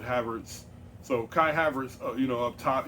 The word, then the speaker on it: Havertz: I always pronounce it Havertz.